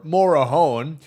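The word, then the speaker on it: Morejón: Um you Adrien or Morahone as you actually pronounce it.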